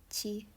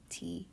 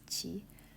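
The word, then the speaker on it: ち: tall this character here Chi sounds a bit like cheese uh it's an exception it's not t it's Chi um it's very similar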